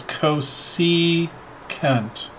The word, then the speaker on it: cosecant: which we abbreviate CSC we spell it out as Cosi kent okay so cos c CA NT is is how it is spelt and then one over